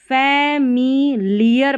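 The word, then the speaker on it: familiar: increasingly नहीं पढ़ना, increasingly, फैमिलियर पढ़ना है, लायर नहीं पढ़ना है, एल आई ए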